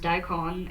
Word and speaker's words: daikon: And I would go, well, in Japanese, it's pronounced daikon.